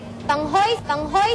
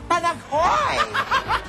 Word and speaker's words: Panaghoy: Yasmin Curdy na nanghoy ng maokray dahil sa maling pagbigkas ng title ng movie ni Cesar Montano. The best festival screenplay is Panghoy sa Suba, Chris Vertido. Panghoy? Hoy, hoy, hoy, iha! Panaghoy!